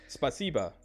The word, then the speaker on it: спасибо: How do you say spasiba? Is that right? Yeah, спасибо. I got it right!